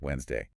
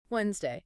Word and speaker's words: Wednesday: The standard pronunciation is really just Wednesday. Wednesday.